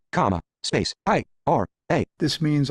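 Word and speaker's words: Aira: A, comma, space, I-R-A. This means I'm asking VoiceOver to pronounce the word IRA, spelled A-I-R-A, as IRA, I-R-A.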